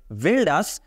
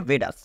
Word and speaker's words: Valdus: পারেন আমি ভুল বলছি বাট এখানে যেটা লেখা রয়েছে সেটা হচ্ছে ভেলডাস বাট এটার একচুয়ালি উচ্চারণটা হবে হচ্ছে ভেডাস কারণ এটা স্প্যানিশ টাইপের একটা নাম যার জন্য কিন্তু এখানে